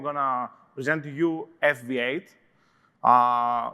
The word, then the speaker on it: FV8: to present to you fv8 uh which actually is pronounced favorite if you put a lot of imagination into it uh which is um